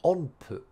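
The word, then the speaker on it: 音符: On meaning sound, and pu is like, usually this one is pronounced hu, just hu, on hu, but because it follows a n sound, it becomes pu, on pu.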